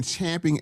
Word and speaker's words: champing: We've been and this the proper way to say this is we've been champing at the bit for what over a decade cuz this happened right after Obama.